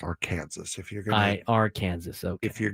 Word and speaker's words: Arkansas: First of all, it's pronounced Arkansas.